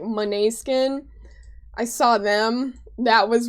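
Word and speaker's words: Måneskin: I'm not sure how to pronounce their name properly. I think it's Monet Skin. It's spelled like main skin, but there there's a pronunciation to I think it's like Monet Skin.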